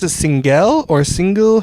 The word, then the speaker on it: Singel: up or not so did you do we pronounce it singel or single how does it how do it single single the joke was my ancestors came over